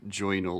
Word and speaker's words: joinal: I call it my joinal like so it's joy and journal um but pronounced like joinal like Linda beler would